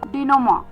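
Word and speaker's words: denouement: अभी के लिए जो सेवंथ वर्ड है इस शाम का वह आ रहा है डिनोमा। डिनोमा। जी हां, यह ध्यान से सुनिएगा। इसमें कुछ साइलेंट अल्फाबेट्स हैं।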